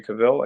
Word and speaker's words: Cavill: first job on Immortals, the movie with Henry Cavill. I think that's how he Yep.